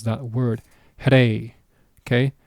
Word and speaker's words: rey: Okay, notice the sound that I make when I pronounce that word, rey.